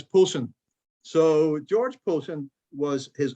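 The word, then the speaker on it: Pollexfen: pollock's fan p-o-l-l-e-x fem that's actually pronounced in the unusual english way as polson so george poulton was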